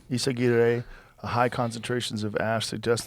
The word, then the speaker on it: Izaguirre: Izaguirre. Izaguirre.